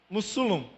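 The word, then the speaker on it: Mossul: Mussulum, é assim que se pronuncia, né?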